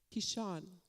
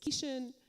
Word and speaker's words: Kishon: And so she was gracious to tell me that the pronunciation is mostly on the second syllable, right? So like Shan, like Ilah, Yeshua.